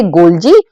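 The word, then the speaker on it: Golgi: जो हमारा अगला है वो है गोल्जी बॉडीज। इसको बहुत सारे लोग गोल्गी बॉडी भी प्रोनाउंस करते हैं, तो आप प्लीज ऑफेंड मत होना कि मतलब मैंने उसको गोल्जी बोला, तो आप देख लीजिएगा अपने हिसाब से।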